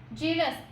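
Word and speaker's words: jealous: जेलस, यहाँ पे आप थोड़ा सा ध्यान देना, जब आप प्रोनाउंसिएट करते हो ना जेलस को, तो ये मैं जेलस नहीं बोल रही हूँ। लेट मी गेट it very clear about it. यहाँ पे मुझे देखो अच्छे से, जेलस अलग होता है, जीलस अलग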